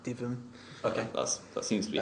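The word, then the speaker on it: Dytham: I think that's how we're pronouncing it, Divum.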